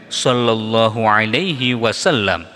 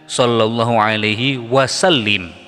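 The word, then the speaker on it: صلى الله عليه وسلم: Kadang-kadang orang salah membacanya dengan sallallahu alaihi wasallim. Jadi yang betul shallallallahu ala Muhammad sallallahu alaihi wasallam.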